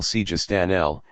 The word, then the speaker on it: Sijistani: There is, on the one hand, Abo Yaqub al-Sijistani, who, following the Persian pronunciation, we will call Sijistanel, and on the other, Naziruddin Tosi.